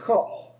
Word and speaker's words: Koch: It's Koch.